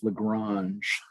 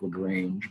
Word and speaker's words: Lagrange: me a cool extra credit yesterday that joseph lagrange that's how you pronounce his last name looks like lagrange but joseph louis lagrange in 1773 invented both cross and dot product